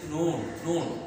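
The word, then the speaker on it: نون: এটা খুব সহজে উচ্চারিত হয় এমন একটি হরফ জিহ্বার অগ্রভাগ তালুর সাথে লাগিয়ে উচ্চারিত হয়। তুমি উচ্চারণ করলেই বুঝতে পারবা, যেমন আমি করছি নুন নুন, খুব সহজভাবে এটা উচ্চারিত হয়।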